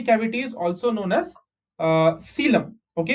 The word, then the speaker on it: coelom: is also known as coelom. Okay, how do you pronounce this word? यहाँ पे O silent है. Okay, whatever is in black, that is silent. So C is C, L-O-M is lum, coelom.